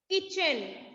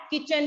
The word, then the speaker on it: kitchen: Next word is किचन. KITCHEN. किचन. आपने ये word UKG में भी पढ़ा होगा. इसमें जो टी है ना बेटा वो साइलेंट होती है, टी की कोई